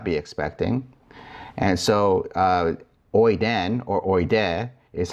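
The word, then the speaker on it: οἶδεν: And so oiden or oide is how you say he, she, it knows.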